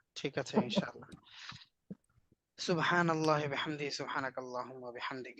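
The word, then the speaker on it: سبحان الله: আর সুবহানা না, নুন জবর। জি তাই দুইটাই হচ্ছে মোটা হবে।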